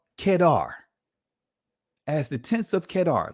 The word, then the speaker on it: Kedar: curtains of Solomon and his name is pronounced so let's break this down as the tents of kedar as the tense of